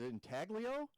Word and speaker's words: intaglio: Your wife did, and I don't even know how to spell it because is it intaglio? Is that how you pronounce that? It's Italian, yeah.